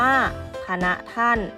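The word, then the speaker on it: ฯพณฯ: ปิด คล้าย นะ คะ เรา จะ อ่าน ว่า พะ นะ ท่าน เขา บอก ว่า ใช้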